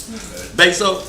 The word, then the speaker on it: Bezos: And until you get Jeff Bezos' money, Bezos, how you pronounce?